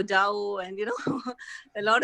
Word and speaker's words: Tao: even these words so maybe we are all pronouncing it wrong it's a tau tao and you know a